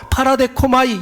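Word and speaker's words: παραδέχομαι: 여러분, 이 영접받다, 영접하다, 이 말은 헬라어로 파라데코마이 이렇게 발음을 합니다.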